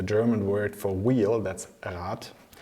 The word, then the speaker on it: Rad: exactly the same as the German word for council which is a "Rat". The wheel is spelled with a "D" and the "D" comes out when I do the plural "Räder" then it turns them to a "D" and when I have